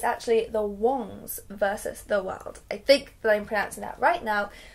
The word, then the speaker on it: Wong: The name Wong, which is his surname, means king, and it's like a very respectable surname, and so moving to America where it's pronounced Wang and becomes somewhat of a joke was a bit of